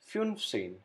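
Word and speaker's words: fünfzehn: same thing again last number five film then add same to it fun scene number fifteen rule number four numbers 16 and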